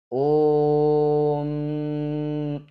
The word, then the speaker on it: ओम: ओम के ओंकार का उच्चारण सर्वत्र प्लुत ही होता है। ओ और उसके बाद 3 का जो अंक लिखा है उसका अर्थ होता है ओ यह प्लुत है, मतलब उसका उच्चार दीर्घ होता है।